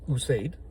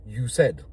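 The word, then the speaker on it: Usaid: So, say for example, like my name is Used. Most people will say you said cuz it's spelled USA ID.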